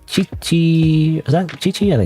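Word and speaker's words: 父: Is this chi-chi chi-chi? Okay, this is a like a two sentences. So like chi-chi.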